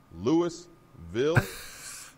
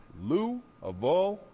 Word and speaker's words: Louisville: of everyone's nonsense and Louisville ain't Louisville it's Lou aille all mashed together got it now get